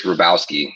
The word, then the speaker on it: Robosky: It is Robosky. There's a make-believe W in there.